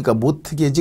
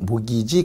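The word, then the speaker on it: mortgage: 것을 이름에서 저당이 한다 영어로 하면 이제 저당 대출이 바로 모기지 발음을 갖다가 못 이게 티가 금이니 못 게지 그러지 말고 그냥 모이지 그러는데 원리를 한번 볼게요 어떤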